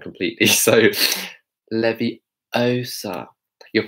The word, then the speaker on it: Leviosa: So Leviosa, you're pronouncing it wrong. Going. So do you see how we're making that same mouth shape? Leviosa.